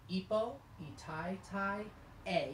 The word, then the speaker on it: Epo i tai tai e: Pronunciation, Ipo, Itai Tai A, even though it's a letter E, we're going to make the A sound.